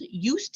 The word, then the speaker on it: Just: about our company um it was founded by Ulrich eustrich in 1930 that's why it's called used and pronounced that way um he was a